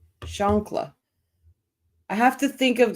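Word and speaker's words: chancla: 911 call up oh I said it right shankla I have to think of the granny because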